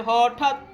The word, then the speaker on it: হঠাৎ: কুৎ, সা, হ ঠত, হ আলাদা উচ্চারণ হয়ে যাচ্ছে, আর ঠা এর সাথে খণ্ডতা উচ্চারিত হয়ে একসাথে হঠাৎ।